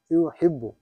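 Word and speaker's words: يُحِبُّ: ওয়ান two three four এটা হবে ইউহিব্বু ইউহিব্বু হ্যাঁ হামজা হয়ে যাবে হ্যাঁ হ্যাঁ এটা ইউহিব্বু আহাব্বা ইউহিব্বু হ্যাঁ এটা হামজা উচ্চারণ করা যাবে না আর হলো আর ইউ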